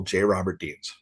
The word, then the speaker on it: J. Robert Deans: But pretty much, with the exception of Facebook, it's all J. Robert Deans. Fantastic. Technically, the J is silent.